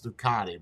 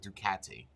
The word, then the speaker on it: Ducati: Italian pronunciation or enunciation. It's Ducati, but he's saying Ducati.